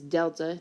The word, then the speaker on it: delta: The other way you could sometimes see it represented is that it's the triangle, which is how you pronounce it, is delta. It's a Greek letter.